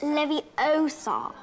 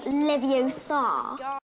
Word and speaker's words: Leviosa: someone's eye out besides you're saying it wrong it's Leviosa not Leviosa it was Malfoy who